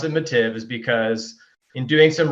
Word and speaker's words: Mattive: And so I want you to tell me a little bit, because the E is what throws me off at the end of your name. Yeah. So it's we pronounce it Mattive, which messes everybody up, right?